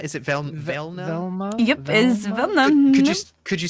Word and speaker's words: Velma: How do you spell that? It was V-E-L-N-A? Yep, That's it. Got it in one. That's me. Velna? Is it Velna? Velma. Yep, is Velma.